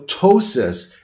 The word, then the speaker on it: ptosis: for is something called ptosis the P is silent so ptosis is actually something different